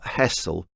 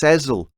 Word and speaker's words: Hessle: It's not Hessle, it's Hessle. Like that song Liza with a Z, 'cause S spells Lisa.